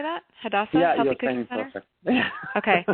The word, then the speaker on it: Hadassah: Hadassah Healthy Cooking Center?